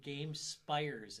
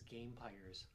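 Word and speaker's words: Gamepires: And they corrected me on pronouncing their name because I had done a video on it, and I did Game Spires, and I think it's Game Pyres.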